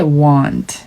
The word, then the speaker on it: want: 그리고 want는 길게 want. 입을 점점 크게 벌리면서 발음해주세요.